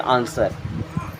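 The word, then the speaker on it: answer: होता है जवाब देना यहां पर डब्लू साइलेंट है इसे क्या पढ़ते हैं आंसर मी मींस होता है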